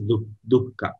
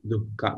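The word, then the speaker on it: duḥkha: Dukkha, the pronunciation itself is dukkha. The word, the swarupa of the word itself is dukkha. We have to pronounce along with the visarga actually, dukkha.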